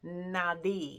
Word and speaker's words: nadi: what is a nauy so naughti is spelled n a DI so not Nauti but Nai with the D um a NTI is